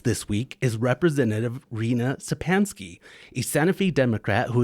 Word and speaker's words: Szczepanski: difficult um you know it's just sansky very very easy and um when in